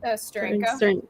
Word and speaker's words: Steranko: And the artist was Jim Sterenico. How do you pronounce his name? Steranko.